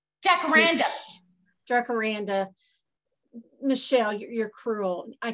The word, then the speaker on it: jacaranda: jakarana is a spanish word and should be pronounced jacaranda dracoranda michelle you're cruel i can't pronounce things i don't know in in l.a we call them jacaranda trees so he says pronounce the j is